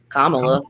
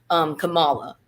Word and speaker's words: Kamala: I think it's Kamala.